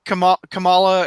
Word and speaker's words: Kamala: And it seems like Kamala, is that how you say her name?